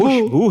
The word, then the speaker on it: खुशबू: खुशबू है, खुशबू।